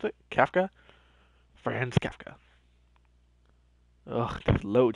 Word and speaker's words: Kafka: friends caf kafka that's happened that's how you pronounce it kafka friends kafka oh there's load times there we